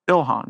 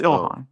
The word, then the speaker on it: Ilhan: You'd be surprised how often Elon Omar. Ilhan. I know. Like Oh, is that Am I saying it right? Yes, it's Ilhan.